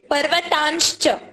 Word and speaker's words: पर्वतांश्च: पर्वतांश्च. Yes, exactly, पर्वतांश का उच्चारण है, यहाँ पे म का उच्चारण किया गया है.